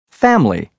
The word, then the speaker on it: family: example vegetable every evening family usually the second e in vegetable every and evening are dropped as is the i in family and the second you in usually the word comfortable not